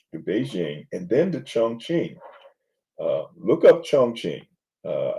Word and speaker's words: Chongqing: So it's like q iing not a uh a k. So uh actually not a ch.